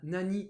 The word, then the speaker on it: nani: C'est quelque chose que je vous avais déjà mentionné, quand on combine nani avec autre chose, c'est le cas ici, on le prononce nan, ce qui nous donne nanwa.